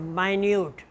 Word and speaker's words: minute: For example, minute, if you mean 60-second time, a span of time, it's minute. And if you mean something very close, very careful or very trivial, then it will be pronounced minute, minute. record, as noun it's record,